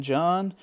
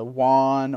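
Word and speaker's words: Jauwn: People usually call me in the lobby uh Juan or Jawan because the way it's spelled J A U W N. Well, it's just not even John. So, if you ever catch me in a lobby, you should already know my name, John.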